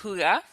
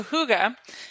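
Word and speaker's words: hygge: But the first is The Little Book of Huga. Huga is that word that's spelled H Y Ge. It's a Danish word.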